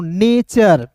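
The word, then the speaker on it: nature: एन ए टी यू आर ई को पढ़ते हैं दोस्तों नेचर। नेचर नहीं एन एन ए के बाद दोस्तों टी यू आर इ रहेगा। तो एन ए का उच्चारण ऐ के रूप में नहीं ए के रूप में होगा।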